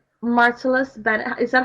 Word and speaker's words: Martellus: Martellus Bennett. Is that how you say his name? Martellus, yeah, that's it.